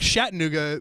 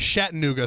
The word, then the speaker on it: Chattanooga: sounds cooler I think Chattanooga well this is because we're we pronounce it different ways I think shet nuga sounds like cooler and more mysterious so okay interesting so